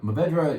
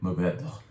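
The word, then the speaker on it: Mourvèdre: Mourvedre, or you're not, on Mourvedre you could say is 3 syllables, but actually it's 2 syllables, and the last thing you kind of breathe out. So Mourvedre, you gasp.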